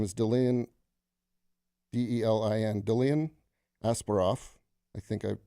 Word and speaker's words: Delin: His name is Delin, D-E-L-I-N, Delin Asparoff. I think I pronounced that right.